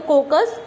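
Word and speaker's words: coccus: कोकाई जो, या इसको आप सिंगुलर अगर आप करो प्रोनाउंस तो कोकस, ये राउंड होता है, ठीक है, गोल होता है, स्पेरिकल होता है.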